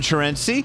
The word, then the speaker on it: Chareunsy: Vegas food writer Chareunsy. Did I pronounce that right? You might be the first person in my life to ever pronounce it correctly.